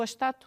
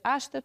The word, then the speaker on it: ástato: O ástato, às vezes há pessoas que pronunciam o astato, mas ele de facto devia-se ler ástato, porque é uma palavra esdrúxula, é acentuada aqui na terceira sílaba tónica, advém do nome de